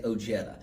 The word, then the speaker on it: Ojeda: Let's Americanize it and just say Ojetta.